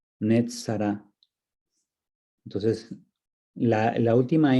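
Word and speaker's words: נצרת: De hecho, en hebreo el pueblo de Nazaret se dice Nazará, Netzará.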